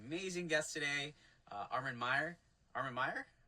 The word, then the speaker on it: Armen Meyer: Armen Meyer? Did I say it right? You nailed it.